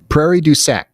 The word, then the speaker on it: Prairie du Sac: Prairie du Sac.